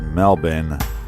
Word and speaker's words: Melbourne: super super awesome well it's pronounced melbin the born is silent as you're over at